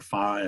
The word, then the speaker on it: phi: indicated by a Greek letter phi or phi. I think you can pronounce it both ways.